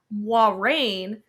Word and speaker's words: Moiraine: which I just learned this is how you pronounce her name, Moiraine, I'm still going to call her Moiraine.